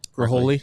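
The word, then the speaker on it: Ghiroli: Graholi, yeah.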